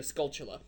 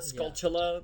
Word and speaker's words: Skulltula: I think tarantula, Skulltula. Yeah. That's how I've always said it.